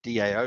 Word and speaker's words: DAO: we do have community dao votes or dow votes or deo votes depending on how you want to pronounce it and then partnerships as